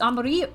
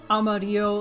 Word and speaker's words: amarillo: yellow in spanish it's amarillo amarillo and i don't expect anybody to say amarillo like exactly like how it's supposed to be said in spanish especially if you're speaking